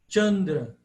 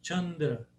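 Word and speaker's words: candra: do alfabeto Latino C ele soa como t t como tau em italiano é o c italiano de tau como seesse um t antes tau então a pronúncia tandra tandra nome da lua chandra ou Tita consciência Tita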